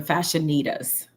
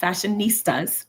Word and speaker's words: Fashionitas: The name of the business is Divine Fashionitas. Div- Fashionista. Divine Fashionitas. Not fashionistas, but fashionitas.